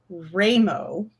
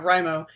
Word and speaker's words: WriMo: So you're here for NaNoWriMo 101, which our old ML Brad always pronounced it Ramo, NaNoWriMo instead of Rimo, which is why we have the you say Ramo, I say Ramo.